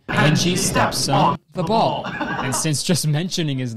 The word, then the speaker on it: Thaboll: And Angie's stepson's name is Thabal, spelled T-H-A-B-O-L-L.